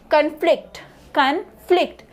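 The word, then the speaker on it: conflict: present D next van इस कनफ्लिक्ट सो एफ एल आई सी टी इसे D primary syllabus है नौ D next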